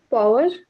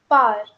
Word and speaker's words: power: Can you pronounce this word? Power, No, it's par.